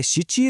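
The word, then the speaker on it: 七: Number चार र सातलाई हेर्नुस त यिनीहरुको दुई वटा उच्चारण छ। चारलाई सी पनि भनिन्छ योन पनि त्यस्तै सातलाई सिची र नाना दुवै भनिन्छ।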